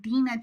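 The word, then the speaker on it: Dinah: And so I'm going to be seeing Dena today, but it's the same person. Okay. Genesis 34:1, Dena, the daughter of Leia, whom she bore to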